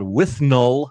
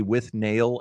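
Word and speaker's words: Withnail: seen a movie called With Null and I, Hmm. which is spelled as though it would be with nail and I, but it's the character's name is With Null.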